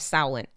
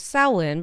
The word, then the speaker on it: Samhain: The festival of Samhain. Which I have finally learned how to pronounce that word, and I am really proud of myself We're for that.